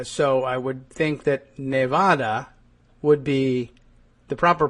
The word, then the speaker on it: Nevada: I grew up saying Nevada and so did I guess Donald Trump. But if you say Nevada and Neadans say Nevada, it's Nevada. I understand you learned it wrong, but okay. And I I also understand the argument that Nevada is arguably wrong. Uh it it's from the Spanish.